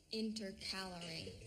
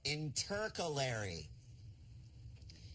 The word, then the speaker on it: intercalary: prairies or components interpolated inter calorie no intercalary inter calorie no in